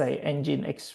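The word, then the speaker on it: nginx: But in this moment you just need to know so it pronounce engine X right here.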